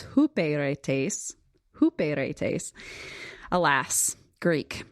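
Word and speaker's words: ὑπηρέτης: that uh to me it should be pronounced hyperetes. So if you're doing your own strongs work, you can try to use that pronunciation, but apparently it's hooperetes.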